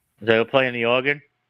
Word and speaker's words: Oregon: We don't pronounce or we don't say or again. It's organ.